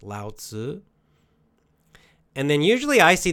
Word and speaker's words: Lao Tzu: Again, I cannot pronounce the Chinese correctly, but yes, Lao Tzu, L-A, in English letters, in Latin letters, L-A-O, and then next is T-Z-U, usually, it's how it's pronounced, Lao Tzu.